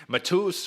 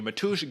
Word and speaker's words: Mateusz: man 65 second win matus or matush excuse me matush gamro um now you got